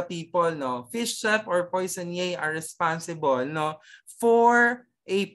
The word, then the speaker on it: poissonnier: Okay, you pronounce it, poissonnier.